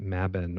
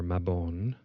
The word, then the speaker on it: Mabon: And in the pagan calendar, we celebrate Mabban or Mabon as some people pronounce it.